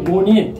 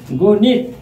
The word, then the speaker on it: গণিত: Viewers, একটু মনে রাখো, কোনো বানানে বানান রীতিতে যদি মূর্ধন্য থাকে সেটা আমাদের উচ্চারণ রীতিতে দন্ত ন হয়। ভিউয়ার্স, এখানে মূর্ধন্য আছে, এখানে দন্ত ন। গণিত, নিত থেমে গেছি তাই জফলা।